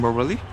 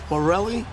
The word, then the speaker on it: Morelli: work why not work coaching morally Morelli you said Morelli you said my name right you said you pronounced